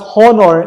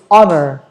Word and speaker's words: honor: you see this one it's not horner okay i would just want to correct everyone it's not hornor it's honor okay silent h people honor their